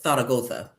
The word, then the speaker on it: Zaragoza: Spain and you know, I try to be respectful of how the locals say Zaragoza and I it's Zaragoza. But I don't know. I feel like if it's not rolling off my my tongue like that and stuff, I feel like I'm being a little pretentious when I say it. So I just say it how Americans say it.